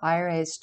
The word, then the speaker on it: Lar: change the name of Aire's chief shrine, Jerusalem. The root of this name word is Lar, pronounced Air, the West, and is identical with Aire, the West.